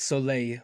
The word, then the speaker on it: Soleil: It's Soleil, which is the Oh, French there's word for Soleil. the French word for sun.